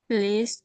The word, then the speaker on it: pleased: Pleased to meet you. Pleased to meet you. Very nicely done, Lna. I loved your pleased there. It's lovely to hear that strong P sound again pronounc it is pronounced P.